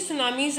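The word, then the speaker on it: tsunami: Waves like the टी सुनामीज आर द, जैसे हम इसको टी सुनामी बेटा इसमें लिखा हुआ है ना, तो हम इसको एक्चुअल में टी से साइलेंट होता है, then we will pronounce it सुनामी।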